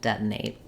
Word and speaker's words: detonate: it's safe to use a stopped unreleased T just like we do in the middle here with detonate uh not an easy